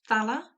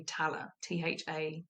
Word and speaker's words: Thaller: Neil deGrasse Tyson, Brian Cox, and there's a lady called Michelle, I think it's Thaler, might be a silent H and be Taller, Thaller.